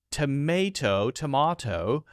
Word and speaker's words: tomato: For instance, the pronunciation of tomato, differs with Americans stressing the first syllable and Brits the second.